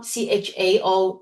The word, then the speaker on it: Chao: Chao Chao is more a Mandarin Chinese phonetic translation of the last name Jiu, and Chiu is more the Cantonese Hong Kong way of pronouncing the word Jiu in Chinese.